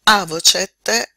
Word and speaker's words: avocet: Avocet è anche un congiuntivo. Andiamo a vedere questo verbo se non altro per la pronuncia.